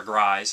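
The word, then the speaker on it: Gries: And this one has Louis the Werewolf, played by John Guise, or Grise, or however people pronounce it. I always pronounce it Grise.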